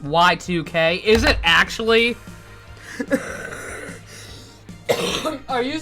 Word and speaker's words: YIIK: double this actually okay apparently it supposed to be pronounced y2k is it actually are